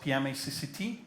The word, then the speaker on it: pmacct: We've heard about PMACCT. Did I pronounce it correctly?